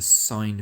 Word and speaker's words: sin: So that means we're going to use the sine function. Although it says sin, you're going to pronounce it sine.